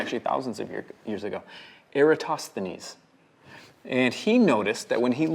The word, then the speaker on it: Eratosthenes: Eratosthenes. Yeah. Eratosthenes. Yeah, Eratosthenes. that's it. Got it. Okay, go 5 on.